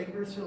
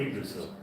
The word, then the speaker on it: Yggdrasil: do you pronounce it Yggdrasil? or Yggdrasil.